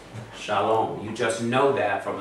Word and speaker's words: shalom: Just like saying shalom a million times over, you know the vav is an O sound, you just know it. You know it's not shulam, it's shalom.